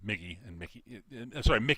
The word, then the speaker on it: Miki: And shifts the head, and Migi goes back to the left arm because Mickey, not Migi. Yeah, that's the thing they reveal. It's spelled Miki, just like Migi is spelled Migi, because Migi means righty, Mickey means lefty.